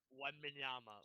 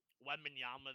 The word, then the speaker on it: Wembanyama: Wembanyama, Sure.